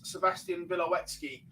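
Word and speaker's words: Sebastian Białecki: the official polish interpreter as dagmara is it's sebastian billowetsky is how it's pronounced so i'll go with that sebastian doesn't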